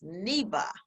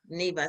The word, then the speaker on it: Neva: So, guys, so you pronounce my name like the Americans. So I'm going to change it. It's Neva. Yeah. So when I travel, I'm so excited because the name is pronounced correctly. When I come back in America, I have to correct. Like, no, it's Neva.